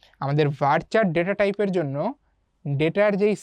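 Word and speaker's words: VARCHAR: এরপরে আসো ভারচার। এটাকে উচ্চারণ এভাবে করা হয়। ভারচার অনেকে ভার্কারও বলে।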